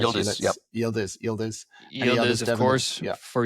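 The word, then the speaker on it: Yıldız: The Oakland goalkeeper Moira obviously Yellet, the Juventus striker. Is that Did I pronounce that correctly? Is that right? Yielders.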